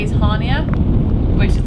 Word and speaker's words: Chania: know to say is Hania, which is the one that looks like it's spelled like Chania.